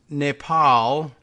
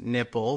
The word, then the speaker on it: Nepal: In one case, Trump, while studying a briefer's map of South Asia ahead of a 2017 meeting with India's prime minister, mispronounced Nepal as nipple.